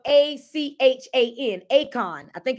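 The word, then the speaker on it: Achan: it's I'm trying to pronounce it right but it's spelled a-c-h-a-n Akon I think it's Akon acon or something like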